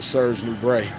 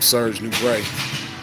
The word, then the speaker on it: Serge Nubret: But my whole routine is modeled after Serge Nubret.